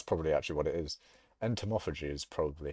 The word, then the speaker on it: entomophagy: Entomophagy is probably how you pronounce that.